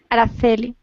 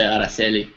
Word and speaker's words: Araceli: Spain it's pronounced like Araceli. Like the C is like a TH sound, you know? Yep. Because I speak South American Spanish, so I would say Araceli.